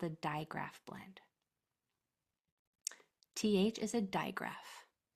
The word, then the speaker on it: digraph: you know what a digraph is. Digraph is a Greek word and it's spelled this way. Digraph. It's not dia. It's not diagraph. There's no in that word. Digraph.